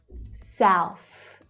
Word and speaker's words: South: So in the first word, we have the ow as in now vowel sound and the unvoiced th. South.